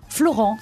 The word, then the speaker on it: Florens: On dit Florens ou Florence ? Florent. Ah bah mince. Tout simplement. Vous savez, avec des origines marseillaises, on prononce toutes les syllabes.